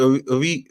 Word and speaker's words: Origi: Is it Origi, isn't it? Yeah. Origi. No, wait. Yeah, that's how you say it, Origi. I can never say it, but that's how you say his name, yeah.